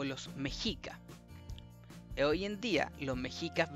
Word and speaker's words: Mexica: una X en realidad esa x no es una x es una letra antigua es una letra antigua que se pronunciada como una G Entonces el la pronunciación bien de Méxica de Méxica de mexica Perdón mexica es mexica mexica mexica porque hay varias jotas